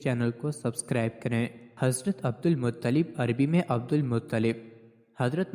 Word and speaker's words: عبد المطلب: ان کو عبد المطلب درست تلفظ عبد المطلب اس لیے کہا جاتا